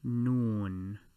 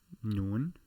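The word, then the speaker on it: نون: it at the opening this letter is known as noon or the word noon which tends to be 12 pm or meridian noon noon the n sound so i will draw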